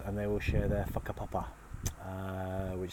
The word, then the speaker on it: whakapapa: It sounds like kind of incest, but it's WHAKAPAPA. I think I'm not very good at spelling things without writing them down. As WH is pronounced as F.